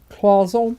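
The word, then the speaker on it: cloisonné: So you can have the cloison. Have I said that right? Cloison. It's like a w sound in the middle.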